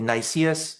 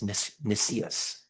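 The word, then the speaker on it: Nicias: At this point, enter uh Nissius. I think some some people say Nus. Um I checked. Uh I think the proper pronunciation is Nissus.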